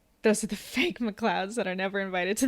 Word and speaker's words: MacLeod: The Scottish pronunciation of MacLeod is MacLeod, but no real Scot spells the name with the word cloud in the spelling. Those are the fake MacLeods that are never invited to the family reunions.